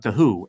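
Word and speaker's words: The Hu: It's spelled HU, not The Who, WHO. That was a band a long time ago. Um, but The Who, HU.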